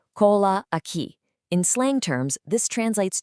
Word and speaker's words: cola aqui: First up in our good vibes section is cola aqui, pronounced cola aqui.